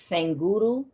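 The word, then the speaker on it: Sadhguru: sang Guru I'm sorry I believe it's pronounced sang uru uh that uh East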